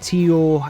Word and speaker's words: Tio: something along those lines and then you had Tio um who was basically Tio yeah it's Tio so I I kind of thought I I may have mispronounced if I'm wrong please correct me and